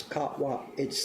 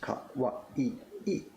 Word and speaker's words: Kawai: Yes, his name is Kawa. It's 3 syllables. Kawai. The famous word you know that means cute is 4 syllables. Kawai.